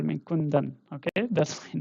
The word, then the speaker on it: Kundan: I'm called Kundan in my native language Hindi. I come basically from India. So here it is pronounced as Kundan. Okay. But uh in German you can pronounce me as Kundan.